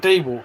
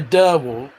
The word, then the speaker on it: DeWalt: When it comes to fucking telling me I'm wrong about fucking DeWalt, though, you fuckers who say Derwalt are wrong.